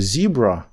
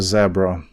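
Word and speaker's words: zebra: Тому, наприклад, американець каже зібра, а британець каже zебра.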